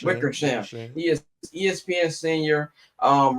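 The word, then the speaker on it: Wickersham: coming out from uh Seth Wither Sham. I think that's how you pronounce my man's name. Wickers. Wickersam.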